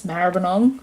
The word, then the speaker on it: Maribyrnong: region of the mantra Maribyrnong and sunshine yes Maribyrnong that is how you say it for anyone